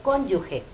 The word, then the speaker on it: cónyuge: Lo correcto es cónyuge. Es un sustantivo que refiere a consorte o persona unida a otra en matrimonio. Se pronuncia cónyuge. Ustedes ven en la pantalla que está entre corchetes y escrita conforme a pronunciación con K y con J y con tilde en la O.